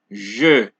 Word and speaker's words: je: So the J in French is pronounced similarly to S in the word pleasure in English. Example, je.